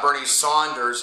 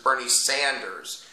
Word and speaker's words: Bernie Sanders: It's not Bernie Saunders, it's Bernie Sanders.